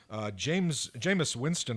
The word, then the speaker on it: Jameis Winston: Jameis Winston, I got that quarterback's pronunciation correctly.